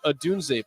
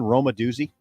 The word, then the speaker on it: Odunze: What school does wide receiver Rome Odunze play for? Wow, hello. Bill, you got this one? I need a lifeline. Boy, I should know this one. Say his name again, Roma Doozy.